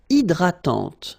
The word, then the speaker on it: hydratante: Une crème hydratante. So remember, H is not existing, and then this Y is pronounced like I. Hydratante. Okay, don't insist on the final E, and this is nasal.